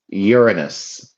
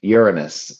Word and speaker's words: Uranus: But a nice way to say it and you the way I always say it to avoid, you know, the negative connotations is Uranus. Uranus. That is the best way to say it.